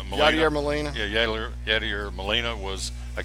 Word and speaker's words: Yadier Molina: Yadier Molina.